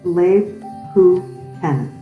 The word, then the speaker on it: Lebkuchen: These are called Lebkuchen houses, pronounced Lebkuchen.